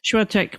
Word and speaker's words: Świątek: And I think the rise of Iga and I learned how to pronounce her last name yesterday. Świątek Świątek Świątek Świątek Yeah, the I think the Polish say sh sh but we we say Świątek.